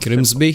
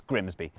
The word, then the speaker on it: Grimsby: be tricky to pronounce take this place look crimsby what if we told you it was pronounced no it's not we'd be lying it's grimsby yeah but other places can